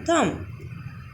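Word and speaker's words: thumb: तो अगर किसी स्पेलिंग में बी के बाद एम आता है, मीन्स बी के बाद एम आता है, तो वहाँ पर बी साइलेंट हो जाता है। For example com, Baum, com, थम।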